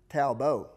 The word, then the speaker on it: Talbot: secret he's french-canadian and his name is actually pronounced talbo so now I think